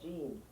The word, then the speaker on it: Jean: Because in French it's called Jean, but here in the United States it's John.